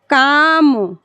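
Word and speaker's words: calm: उसी तरह से है काम एल एम पास में आ यहां देखिए एल एम वाला भी बता दिया एम के पहले एल आएगा तो उच्चारण उसका नहीं होता है काम हो गया यह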